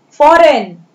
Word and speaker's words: foreign: then foreign, FOREIGN, here G is silent, foreign, foreign, foreign यानी विदेश।